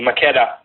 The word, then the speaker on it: Makeda: Am I pronouncing your name correctly, Makeda? Yeah, you say it in the Ethiopian way, so that's correct.